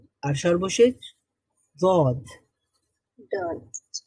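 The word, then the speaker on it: ضاد: উচ্চারিত হয়ে গেছে গদ জিহ্বার একটা সাইড মানে ডান অথবা বাম সাইড এটা আপনি উপরের ডান অথবা বাম পাশের যেই দাঁত আছে সেই দাঁতের গোড়ার সঙ্গে লাগান সবাই আমরা লাগাই জদ আস্তে আস্তে হয়ে যাবে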